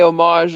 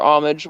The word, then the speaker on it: homage: It can go either way, homage or homage, whatever.